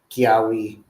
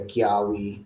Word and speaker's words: Kiyahuitl: That's primary what it is because some variants they do say Kiawi and some say Kiawi and they're kind of like sound the same, but one has a Y, one doesn't.